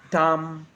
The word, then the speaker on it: dumb: It's always silent when it follows the letter M. Climb, come, lamb, thumb, dumb, and plama.